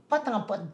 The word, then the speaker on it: pot en pot: Québec quand même euh pote en pote des îles de Madeline pote en pote c'est dans ça s'écrit peau en peau peau de fleur mais ça se prononce Po en pote des îles nécessairement